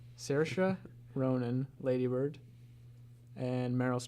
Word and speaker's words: Saoirse: Saoirse. Saoirse Ronan, Lady Bird, and Meryl Streep, The Post.